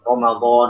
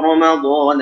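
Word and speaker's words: رمضان: misalnya yang berfathah, ya, kalau Ramadan, ya bacanya Ramadan, jangan Ramadan, Ramadan. Ya, kalau gitu mah bahasa Indonesia Ramadan. Ra itu udah tipis ya, ra. Gimana baca tebalnya ro, Ramadan, Ramadan. Ketika dhammah ar-ruhama, ruhama.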